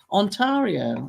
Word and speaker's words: Ontario: Ontario.